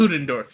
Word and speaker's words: Ludendorff: Is it Ludendorff? Am I pronouncing correctly? Ludendorff, yeah.